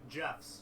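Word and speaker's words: Geoff's: It Jeff's, but it's spelled with a Geoff.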